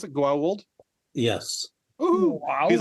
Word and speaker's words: Goa'uld: Is that how you pronounce it? Goa'uld?